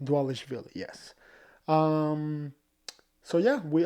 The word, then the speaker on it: Dvalishvili: I always have issues saying his name, Dvalishvili. I think that's how you say it, Dvalishvili.